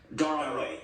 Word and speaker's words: Darod: Is Ilhan Omar advantaged in getting Somali votes in Minnesota because she is Darod?